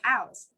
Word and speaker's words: house: like this is our house that's with an s sound but if you are going to use houzz as a verb like um the vanilla hotel is housing the international delegation that would be pronounced with the letters or with this sound a use if it's